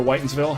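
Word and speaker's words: Whitinsville: hashtag hashtag I remember whitens ville hashtag and never forget and yes it was named whitens ville if you look it up it's spelled Witten's Ville but it was pronounced whitens ville which is just is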